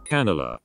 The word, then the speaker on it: Canela: font does super well it's actually very hard to say canela so let's see if i'm saying it right canelo that's how you say it canelo the last